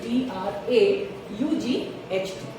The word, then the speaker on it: draught: This is DRAFT and this is DRAUGHT. Same pronunciation.